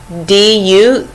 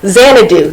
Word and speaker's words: Xanadu: It's called I can't pronounce it. It's Xandu. No, Xanadu.